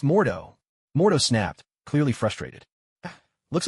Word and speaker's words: Mordo: I'm always studying Master Mode, Bai Yang replied with a grin. It's pronounced Mordo.